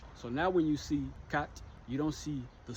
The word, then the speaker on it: quatre: Take the word quatre, or quatre, en français. See that little r e at the end? You got to pronounce that.